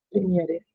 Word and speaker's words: Premiere: arriba que me ayuda premiere prem premiere Premier se pronuncia Ahí va la carpeta